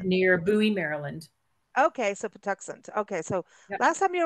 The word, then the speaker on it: Patuxent: name off because I don't know how to pronounce it so go for it oh oh okay so it's the pent River Park uh located near Buoy Maryland okay so pant okay so last time you were on talking